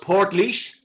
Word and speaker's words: Portlaoise: And now you're at a prison called, is it Port Liège? How do you pronounce that? So it's called Port Liège.